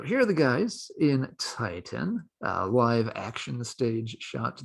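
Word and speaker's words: Tyton: is called titan now i'm sure it's supposed to be pronounced titan but uh it is appropriately misspelled as t-y-t-o-n so your teaser you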